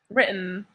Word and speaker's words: written: Remember, same with eaten. Eaten. Written. Written. Wow. Written. Like this. Written. As if it were written like this. Written. in, like with a slight pause.